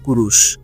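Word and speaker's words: Kūruš: Cyrus নামে পরিচিত হলেও তার নামের আসল উচ্চারণ ছিল কুরুশ।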